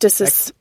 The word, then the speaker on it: ecdysis: Let's hear how it's pronounced. Ecdysis.